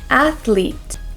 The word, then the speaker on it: athlete: to say a athlete so you're going to stick your tongue through your your teeth just a little bit and go like this f f f so let's try a a AET so then from the F sound you'll tense your tongue and go AET and make the l sound athlet and then for the ending sound we don't want to say to athl no we want to say athlete you might even hear